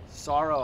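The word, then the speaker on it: Saro: Armenian Armenian okay so I figured like sorrow I've never ever heard sorrow yeah s a r o it's spelled the way you pronounce it s okay so I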